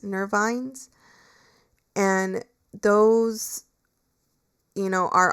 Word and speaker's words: nervines: And so nervines, um, just in case you're not understanding what I'm saying, like it's spelled N E R V as in like victory. I N E S, nervines.